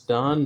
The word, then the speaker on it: Don: his name is Don. Cool. It's spelled D-O-N.